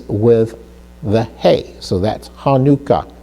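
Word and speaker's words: חנוכה: So with the het were followed by the noon with a kibbutz under that, which gives us an oo sound. Hanukkah, Hanukkah.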